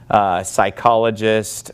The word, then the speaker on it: psychologist: just call it Psalms psychologist we would not pronounce the P but in Greek they